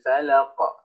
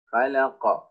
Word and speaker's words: الفلق: maka dia menjadi sukun maka cara baca qaf yaitu dengan diberikan pantulan suara karena dia merupakan salah satu huruf yang qalqalah yang memiliki pantulan suara contoh cara bacanya qul a'udzu birabbil falaq falaq ada pantulan suaranya kemudian